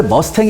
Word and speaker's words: 머스탱: 냐 바로 f 51 무스탕 전투기 줘 원래 머스탱 이라고 해야 되는데 저는 왠지 무스탕 이라고 발음하고 싶어요 이게 멋있어 미스터 이게